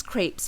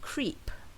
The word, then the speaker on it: crepe: a box of delicious Crepes for IFA and a blue crepe Shaw for Eid now people often mispronounce this word by saying creep this can lead to